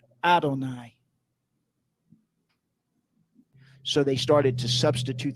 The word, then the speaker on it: Adonai: that the talmood expresses not as I am written am I pronounced I am written yod V I am pronounced Olive nun yod or Adonai so they started to